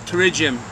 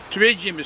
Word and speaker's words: pterygium: no fun just say there's no pterygium spelled with a P P to this [ __